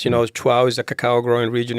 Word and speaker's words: Chuao: We chose a name that very few people can pronounce. Just putting 3 vowels together. I didn't know it was such a hard thing for the English language, but Chuao, instead of whatever.